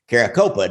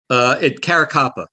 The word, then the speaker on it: Caracappa: It's Louis Ippolito and Steve Caracopa. Did I get those pronounced right? Caracappa. Caracappa.